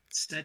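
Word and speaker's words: Cett: She eventually gets to Set's chamber as Keep Hastings starts to burn.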